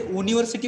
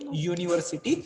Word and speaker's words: university: पण when we pronounce it, we don't say university म्हणतो का आपण? We don't say university. No, we say university. So sound is y. Yes, and y is consonant. Y is not vowel sound.